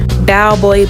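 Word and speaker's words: Balboa: Diego where we spent the day walking around Bowboy Park. B A L B O A. I hope I'm pronouncing it right.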